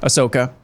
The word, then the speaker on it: Ahsoka: And then secondly, Ashoka, is that how you say her name? Ahsoka.